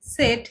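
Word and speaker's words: Zett: আলাদাভাবে বলতে গেলে আমরা উপসিলন বলবো, কিন্তু কনজুগেট করে বলতে গেলে ওয়াই এর মতো উচ্চারণ হবে। জেড হয়ে যাবে সেট।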